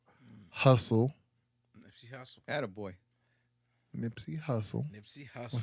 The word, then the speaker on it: Hussle: Nipsey Hussle. Nipsey I Hussle. said it right. Yep. Not Russell, but Hustle.